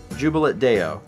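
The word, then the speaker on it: Jubilate Deo: That is how to pronounce the Latin phrase jubilat. Jubilat deo.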